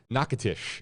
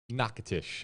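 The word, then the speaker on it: Natchitoches: from there in louisiana nakatish i think was the correct uh pronunciation this next one is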